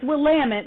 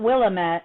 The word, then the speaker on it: Willamette: um and it is Willamette not Willamette it rhymes with the word we can't say on this podcast but you get the